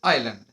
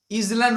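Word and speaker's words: island: Living on অ্যান আইসোলেটেড আইল্যান্ড। ইসল্যান্ড উচ্চারণ কেউ করবেন না, আইল্যান্ড, এসটা সাইলেন্স হয়ে যাবে ওখানে। বলছে আইসোলেটেড, পরিত্যক্ত, আইল্যান্ড মানে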